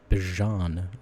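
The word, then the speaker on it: Bijan: Bjan Robinson or Bjan Robinson, sorry, is how it's actually pronounced. Uh, Bjon Robinson is incredible, obviously.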